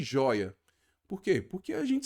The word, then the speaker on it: joia: Olha a palavra joia. Vamos ver a palavra joia. Olha só. Joia. Não é a última. Qual é a sílaba tônica? A penúltima. Então é uma paroxítona.